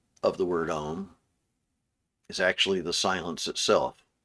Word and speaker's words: Om: And then the M, which is pronounced with like a NG sound. Anyway, goes into silence. And then the last letter of the word Om is actually the silence itself.